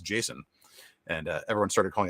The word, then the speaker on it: JSON: uh douglas crockford saying it was intended to be pronounced jason and uh everyone started calling it json and he was cool with it but i'm gonna keep calling json anyhow so it's just